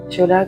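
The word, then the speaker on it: Phiola: Fiola que vous retrouverez sur la page Facebook. Donc Fiola, ça s'écrit P-H-I-O-L-A. Comme les fioles en grec, puisque je travaille avec des fioles d'eau d'harmonisation énergétique que j'ai créées.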